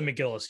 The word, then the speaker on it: McGillis: Is that how you pronounce it? Kelly McGillis, yeah.